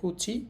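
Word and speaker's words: 口: এটা হচ্ছে মুখের কাঞ্জি এটার কুনিয়মী জাপানি উচ্চারণ হবে কুচি এবং কুচি দুইটাই হইতে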